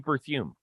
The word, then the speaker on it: Berthiaume: Steve Berthiaume.